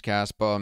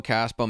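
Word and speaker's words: Kaspa: We know Caspa means dandruff in Spanish, but it's spelled with a C. So it's pronounced the same, but it's spelled differently.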